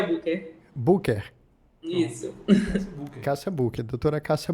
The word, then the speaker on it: Bucher: Aí então geralmente lá eles pronunciam booker, né? Escreve B U C H R, mas pronuncia Booker.